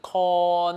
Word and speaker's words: 看: 好，记得这个 con 比较难发音哦，要记得它是一个 o 的韵母 con。好，舌尖顶到牙齿背 con 唔惯 con 唔惯。